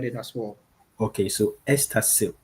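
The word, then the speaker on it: Easterseals: when you are pronouncing it can you please spell it so that people will also get it as well. Okay. So Estasil E A S T E R S E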